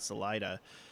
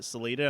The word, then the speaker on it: Salida: people over this but people in salida call it salida and we had a printer at my last job called salida and everybody called it celita i'm like no that that's not how they say it so many hours